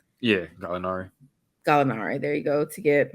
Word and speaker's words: Gallinari: Did I pronounce that correctly? Yeah, Gallinari.